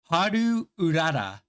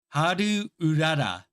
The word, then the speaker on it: Haru Urara: But by practicing how to say their name, like, and putting a little bit of emphasis on the ru, like you add a lu to the ru and make it ru, lu.